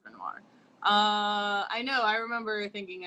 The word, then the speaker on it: Renoir: Yeah, it's Renoir.